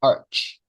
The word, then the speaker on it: urge: And uh we have the ending sound urch, right? Can you help me to repeat it? A strong urge.